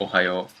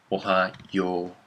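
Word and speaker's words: おはよう: how about this about Ohio people right Ohio Ohio in in both case Ohio in even in Japanese is pronounced like oh ha yo oh no really Ohio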